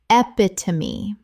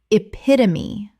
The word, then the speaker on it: epitome: Common mispronunciation, epitome. Correct pronunciation, epitome. Four syllables, the E at the end is always pronounced. This is one of the most common mistakes in English.